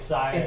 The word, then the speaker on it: Cyrus: And then he's like, no, it's Cyrus.